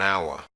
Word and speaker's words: hour: an apple an orphan words with a silent h a pronounced with the vowel first an hour and honor and honest boy remember that